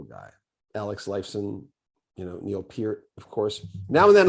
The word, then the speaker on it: Neil Peart: lot of people but it's definitely for sure neopet because i know people who who have known